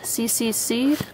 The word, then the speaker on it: CCC: And to start with, I have CCC, Complete Series. You can also pronounce it as Choo Choo Choo.